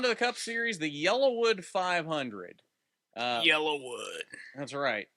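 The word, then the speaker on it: Yellawood: have a theory okay Yellowwood 500 it's because he drives a yellow car but it's not yellow wood it's yellow wood y-e-l-l-a-w-o-o-d it's just the Talladega pronunciation in yellow fair enough I don't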